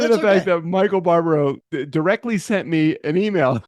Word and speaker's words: Barbaro: know in spite of the fact that Michael Bararo how do you say his name Barbaro he only says it every single episode obviously